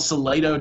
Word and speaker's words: Salado: I'm from a little town called Salado, Texas, which my graduating class in high school is 57 kids. Spell it.